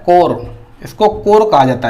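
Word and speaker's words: corps: ठीक है, आपको क्या दिख रहा है, बोलने में आप सोचेंगे कॉर्प्स, क्या बोलेंगे, इसको कॉर्प्स बोलेंगे, जबकि इसको कॉर्प्स नहीं बोला जाता है। इसका जो प्रोनाउंसिएशन किया जाता है वो कोर लिखा जाता है।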